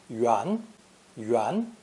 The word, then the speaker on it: 元: saw in lesson six this new character is pronounced the second tone yuan yuan and means the head